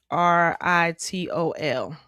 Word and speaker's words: erythritol: How do you pronounce erythritol? Yeah, it's erythritol.